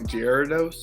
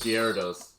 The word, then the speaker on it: Gyarados: g um i want to say it wrong giardos gyarados here it is yeah that no that's cool